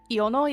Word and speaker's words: Iono: If it's Japanese, it's probably Iono, yeah.